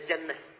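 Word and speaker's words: جَنَّة: Lihat sini, ada junnah, ada jinnah, ada jannah. Jinnah, jinnatun, kemudian jannatun. Tulisannya sama, harokat awalnya yang beda.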